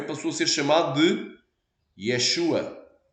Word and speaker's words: Yeshua: hebraico então é Yeshua ra Masi exatamente a pronúncia Yeshua Yeshua Rami Jesus o ungido Amém em grego